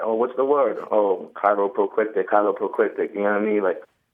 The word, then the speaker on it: cheiloproclitic: The word is cheiloproclitic, and I will spell it.